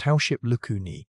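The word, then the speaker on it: Howship's lacunae: Scattered through it were microscopic resorption pits called house ship lacuni, pronounced househip lucuni, the tiny bite marks left by cells that demolish bone during remodeling.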